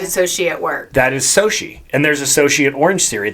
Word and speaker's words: Xochitl: The one that always throws me is Soshi. Oh, Zocatile. Zocatile. XOCHITL. CHITL. We have an associate at work. That is Soshi.